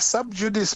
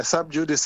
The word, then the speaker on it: sub judice: Yeah, if you go to South Africa, they say sub judice, but it's because maybe they are closer to Latin than we are. But normally lawyers will refer to it as sub judice, like it's an anglicized pronunciation.